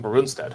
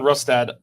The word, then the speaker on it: Rustad: it right rustad rustad I keep on saying bonstead but it's rustad it's a German yes um John rustad uh kicked out by